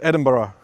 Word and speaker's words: Edinburgh: Uh, it's Edinburgh. Let me say that slowly. Edinburghough. But actually, some people pronounce it slightly differently as well.